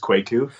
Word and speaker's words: Kwaku: So it's actually Kwaku. Fun fact. So it's pronounced Kwaku. Oh, And, Kwaku.